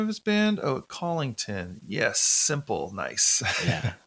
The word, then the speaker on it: Collington: of his band oh collington yes simple nice i hear it all though collingwood collingsworth uh it gets butchered a lot oh yeah my last